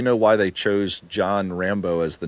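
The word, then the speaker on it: Rambaux: he was saying like Rambo like he was he was pronouncing a certain way and his wife came home and said oh Rambo and he was like oh that's a cool sounding name and then John as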